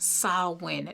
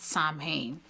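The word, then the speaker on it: Samhain: And please it's pronounced sin, not sam.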